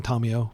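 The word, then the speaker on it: Tamiyo: telling me I'm mispronouncing Tamio, because again, I'll say that she is from the Kamigawa plane and Japanese is the language of that plane, and her name is pronounced in the Japanese manner.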